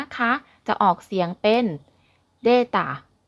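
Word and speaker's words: データ: ข้อ มูล นะ คะ จะ ออก เสียง เป็น deta deta อ่ะแล้ว กลับ มา พบ กัน ใหม่ กับ ข่าว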